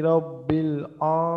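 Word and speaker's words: رب: হ্যাঁ, এরপর আলহামদুলিল্লাহি রাব্বিল আলামিন রব্বি লে যেন না হয়, বা লামটা যেন ঢিল না হয়, লামের উচ্চারণটা যেন আর কি আপনার স্পষ্ট হয়, হ্যাঁ?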